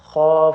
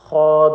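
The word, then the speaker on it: خ: You need to make sure these kids actually pronounce this the throat letter, the top of the throat, kha and ghain correctly, so that it doesn't sound, it doesn't sound like it's coming from the mouth.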